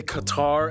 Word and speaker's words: Qatar: host barbs full disclosure it's actually fully acceptable to say Qatar as well because you know over time most people kind of just messed up the pronunciation and the vocals are just kind of like let's just go with it in any case Qatar